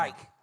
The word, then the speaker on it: Reich: How do you say his last name? Reich. Reich. Jr. Like the Third Reich.